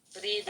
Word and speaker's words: Vrede: Vrede, Okay. vrede. Vrede, Brede? vrede, yeah, bro. Brede. Vrede, like, bro, I write it. Spell it. Yeah, Vrede with a V.